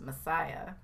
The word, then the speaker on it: MSIA: movement of spiritual spiritual inner awareness pronounced messiah john roger is a